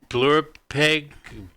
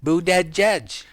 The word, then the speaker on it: Buttigieg: pronounce his name Ryan boo dead judge I'm gonna slow it down for them sick to death of